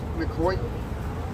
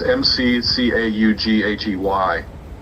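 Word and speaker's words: McCaughey: Is that how you pronounce his name, McCoy? I think so. It's McCaughy.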